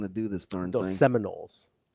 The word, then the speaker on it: Seminoles: Seaman holes are just going to do this darn thing. Seminoles. Seminoles. It's a pronunciation issue there, DB.